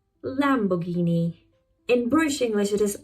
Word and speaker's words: Lamborghini: But in British English it is poss Lamborghini. Lamborghini.